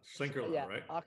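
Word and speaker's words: Schlenkerla: Can you pronounce that brewery? Because I've been saying it wrong for a long time. Schlenkele, yeah, right? Schlenkele, yeah. Schlenkele.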